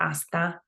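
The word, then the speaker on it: hasta: fine huh and then we also not pronounce this h just like when you say hola you're not pronouncing the h right please we got we got gracas these are pretty standard Um, you're welcome.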